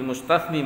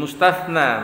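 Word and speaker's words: المستثنى: Bukan, kalau kayak gini bil mustatsni bacanya. Bil mustatsna bacanya. Ya-nya enggak ada.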